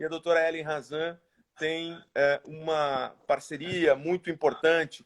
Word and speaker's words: Hazan: É Hazan? Hazan. O H é mudo. H mudo.